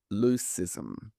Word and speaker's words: leucism: The quiz question for this week is, what is leucism? And I'll spell it.